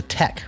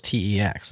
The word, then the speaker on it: TeX: and can called IT Tech even though it was teex is that right yeah he says it's the Greek pronunciation of the original word not not speaking Greek